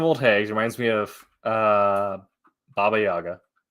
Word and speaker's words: Baba Yaga: Speaking of old hags, reminds me of Baba Yaga. I guess it should be Baba Yaga, is the proper pronunciation.